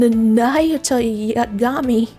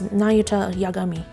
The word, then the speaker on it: Nayuta Yagami: I um I'm Nayutami. Actually, his name is Nayuta Yagami. Just walking into the room,